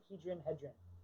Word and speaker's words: Hedren: You're breaking it at the he and then saying drun. I'm saying Hedren because I'm breaking it after the D.